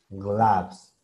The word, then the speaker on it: gloves: Entonces, así es como se pronuncia gloves.